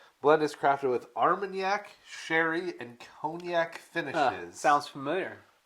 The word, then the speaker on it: Armagnac: Is it Armenyak? Is that how you say it? Armenyak.